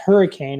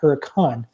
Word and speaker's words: Hurricane: we went up to this little challenge not pronounced hurricane as most West folks would say but it's astronauts Huracan or come on so it's a small Mormon